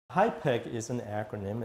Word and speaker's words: HIPEC: hyek is an acronym it's spelled hip C and it stands for hyperthermic